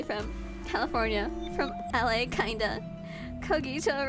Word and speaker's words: Cogito: Cogito rhymes with Nagito.